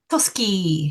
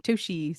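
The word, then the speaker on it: Toschi: And um, a police officer called David, how do you say his surname? Tosski. Tosski. I was saying Toshi, so I was saying that wrong.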